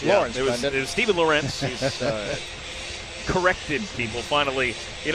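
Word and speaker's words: Lorentz: one is halted as lawrence wound up in the net and the net wound up off its pegs so they blow it down they'll try it again it was lorenz but now it's lawrence stephen corrected people finally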